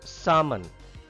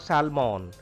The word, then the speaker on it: salmon: Salmon. L is silent here. Salmon. It is a name of a fish. Salmon. It is not salmon.